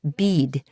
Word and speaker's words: bed: They then offer me a bed pronounced bead, but I decide to go back to the alley coop and thank them, stumbling away full of nutrition and good feelings.